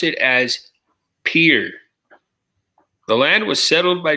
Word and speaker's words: Pierre: all right number 47 if you pronounce South Dakota state capital like the French name you'll be quickly corrected by the locals who pronounced it as Pierre the land was settled